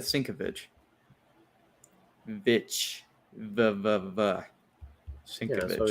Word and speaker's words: Sienkiewicz: He said it's pronounced like Sin Cabbage, but that's what we said. Sienkiewicz. Yeah, I said Sienkiewicz.